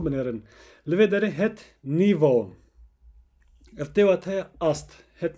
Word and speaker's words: niveau: pirjimariya vê jî di nîvos. Bala xwe binê li vê derê em nabêjin nîve a û lê em dibêjin nîvo. Em a û dikin o lange klank. Em wisa telaffuz dikin.